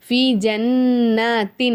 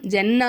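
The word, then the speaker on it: جنةٍ: நம்ம இதை என்ன செய்யணும் நல்லா ஒரு செகண்ட் அழுத்தி உச்சரிக்கணும் ஜன்னத்தின் ஜன்னத்தின் ஜன்னா சொல்லக்கூடாது ஜன்ன ஏன்னா முன் பக்கத்துல அலிஃப் இல்ல அப்ப ஜன்னத்தின் தான் சொல்லணும் தின் ஆலியா அப்படிங்கும் போது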